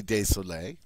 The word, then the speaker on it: désolé: So they both sound the same, je suis désolé. But if you're a female and you were writing this, you would have to add the extra E.